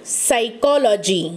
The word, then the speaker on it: psychology: Psychology. The pronunciation is given to the slanting bar. Psychology, that will give you hint. So psychology, it begins with P, but we never say psychology like that.